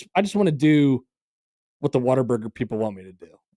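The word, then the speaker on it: Whataburger: correct way to say what a burger, it's waterburger. I have heard I heard the correct way to say it is waterburger, not what a burger.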